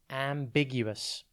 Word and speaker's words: ambiguous: time today's word is ambiguous it's pronounced you us and it is spelt a m b i g u o u s think am big you as in the letter u and then us ambiguous is an adjective